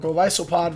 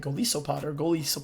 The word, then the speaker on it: Golisopod: But Golisopod versus Trevenant in the 2 shield with Fury Cutter over Waterfall, and we still lose that.